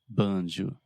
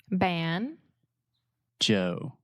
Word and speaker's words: banjo: word in Portuguese right bonjour in English we say ban ban say that with me ban Joe Joe banjo yeah and we really exaggerate that moving vowel the o sound so we're not saying